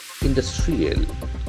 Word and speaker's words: industrial: Industrial, beautiful adjective. Industrial. The accent falls on the second syllable.